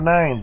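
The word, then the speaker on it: nein: Power of 9s is very, very awesome. Wrong way. Power of 9s? Yeah. Power of nose. Nose. It's pronounced 9 in German. N-E-I-N, 9.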